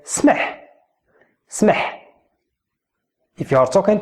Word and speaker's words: سمح: So try to say it without any vowel in between.